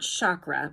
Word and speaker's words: chakra: In Sanskrit, the language of the ancient Indian seers who first identified these energy centers, the word chakra, pronounced chakra, means wheel or circle.